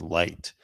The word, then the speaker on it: Licht: Anyways, Chris Licht, or I think it's pronounced Light, branded Don Lemon's comments as unacceptable during a 9 a.m.